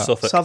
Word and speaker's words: Southwark: to say David is probably confusing Kennington in Southwark. Now, how would you pronounce that? Suffolk.